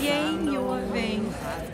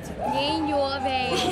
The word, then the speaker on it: Yang Your Vang: It's simple. It's Yang Your Vang. Yang Your Vang.